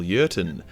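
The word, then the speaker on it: Jurten: the name of Colonel uron starts with a J but because he's German the J is silent uron got in contact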